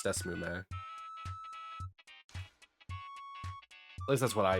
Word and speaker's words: DeSmuME: Is it Desmune? Is that how it's said? I did actually look at what it's called now. Desmume. I said it with an N earlier, it's Desmume.